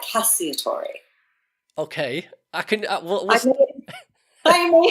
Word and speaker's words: Cacciatore: Some people say Cacciatore, but I like Cacciatore. Okay, I can. I may introduce myself that way in the future. Cacciatore.